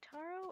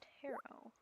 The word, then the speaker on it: Taro: cards I don't know I figured it was like a Japanese name so you would pronounce it like taro and for that matter